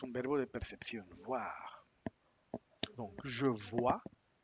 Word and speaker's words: vois: Vo je vois ignoro las consonantes finales.